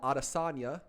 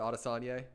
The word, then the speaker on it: Adesanya: is headlined by israel adesanya versus marvin vittori they killed me the last time when i said arasania i know my pronunciations they'll play with me israel arasana defends his